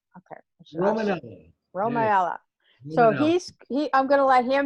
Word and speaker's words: Romanella: Am I pronouncing that right? Okay. Romanella.